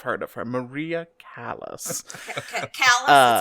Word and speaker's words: Callas: Callas, it's pronounced Callas. More or less.